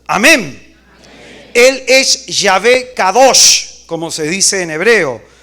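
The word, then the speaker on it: קדוש: La palabra hebrea Q-A-D-O-S-H, así se escribe en hebreo, Kadosh, Q-A-D-O-S-H, Kadosh. La palabra hebrea Kadosh significa separado, significa trascendencia, grandeza, exceltitud.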